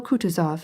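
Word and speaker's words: Kutuzov: General Coutuz has been kind enough to desire me as his aid to comp. He spoke in French and accented the last syllable of Coutis's name like a Frenchman.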